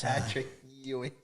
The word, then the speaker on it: Patrick Ewing: Patrick Ewing.